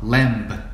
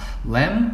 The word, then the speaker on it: Lamb: 근데 여기서 우리가 주의할 점은 마지막 글자 B는 소리가 안 나요. 이 단어에서는. 그래서 Lamb 하면 안 되고 Lamb이라고 해야 맞는 발음이에요. Lamb of God.